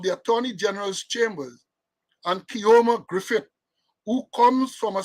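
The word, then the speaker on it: Keoma: it was revealed that attorney kioma overpronouncing it right k-e-o-m-a Griffith it was revealed that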